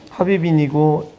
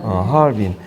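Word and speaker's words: 哈爾濱: 합이빈이고 읽기를 하얼빈이라고 읽죠. 하얼빈.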